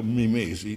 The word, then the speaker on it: mimesi: Mimesi è con l'accento greco. Mimesi suona la parola italiana passata attraverso le forche caudine del latino. In sostanza la penultima è lunga, è un'eta, i latini l'hanno contata lunga e ci hanno consegnato